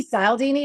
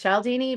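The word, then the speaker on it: Cialdini: But it might be Salini, but I I'm pretty sure it's Shaldini, but I'm not exactly sure.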